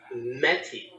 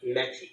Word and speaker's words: Mettie: correct you on her name oh okay it's mey m TT so like NY but mey okay I think I just I'm so used to pronouncing it wrong I've got it spelled right but mey okay okay and and she would never correct